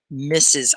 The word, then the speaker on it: Mrs: and it's pronounced mrs misses i know it's pronounced like miss is but miss is another